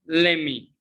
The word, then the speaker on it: let me: me i know it i know that most of you will say what let me but no it's not pronounce let me let's discover it's a pronounced let me what are you sorry yeah let me ask pronounce lemmy let me let me